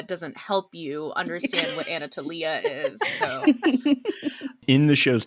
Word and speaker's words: Anatolia: don't know how saying Anatolia doesn't help you understand what Anatolia is so in the show's defense in Greek the accent is on the is on the E oh no I take